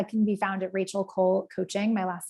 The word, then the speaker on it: Coll: So I can be found at Rachel Cole Coaching. My last name is spelled COLL.